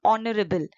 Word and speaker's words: honorable: You use an because H is silent over here. It's sounding honorable. H is silent. H is not sounded.